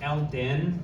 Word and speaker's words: Eldon: Because I say it like l den like you know someone